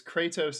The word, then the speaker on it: Kratos: which way i'm saying is it kratos or kratos it's kratos is the correct pronunciation oh no okay so